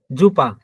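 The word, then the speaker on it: super: এই যে জুপা, এই জুপা, দেখেন, জি SU, জুপা, আমরা বলি সুপার কিন্তু এটা হচ্ছে জুপা।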